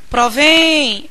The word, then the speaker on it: provém: verbo vir no singular a seguinte sílaba tônica provém Olha que sílaba tônica é a sílaba mais longa é provém essa sílaba final que se prolonga durante mais tempo e ela termina com